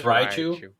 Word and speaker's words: Raichu: one I ever saw why is it rotu not Raichu I don't know I thought I was always Raichu it's raich is it Raichu it's Raichu Raichu okay or am I saying